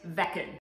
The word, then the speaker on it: Veken: we're reviewing the vegan pet fountain some people pronounce it vegan i looked online and most people pronounce it vekken so we're going to go with vecton well